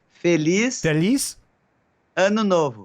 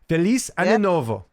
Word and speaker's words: Feliz Ano Novo: Feliz Ano Novo. Ano Novo. Feliz Ano Novo.